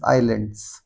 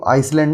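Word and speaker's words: island: Prince the Prince was the king of दी आइलैंड्स। Princess इसको आइसलैंड नहीं आइलैंड बोलते हैं।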